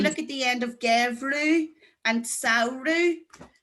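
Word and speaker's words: geimhreadh: If you look at the end of gevru and sauru, ADH is pronounced like a U fada.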